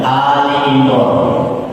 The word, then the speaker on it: Ali Imran: Ali Imran, bukan Ali. Apalagi pakai ain, itu salahnya 200 karat. Sudah Ali Imran, nah itu salahnya 200 karat. Jadi hamzah dan panjang.